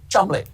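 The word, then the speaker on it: Cholmondeley: Oh, sorry, I'm being told it's actually pronounced Chumley.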